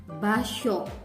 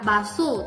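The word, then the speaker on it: 場所: Tempat itu basho. Tidak baso, tidak begitu kan saya ucapkan, tapi di sini karena ada h, s, h, o, jadikan basho. Ya, basho, ada syahnya. Ya, diikuti, itu pelafalannya.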